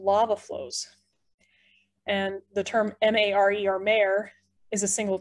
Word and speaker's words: mare: actuality their old lava flows and the term m-a-r-e or mare is a single term for maria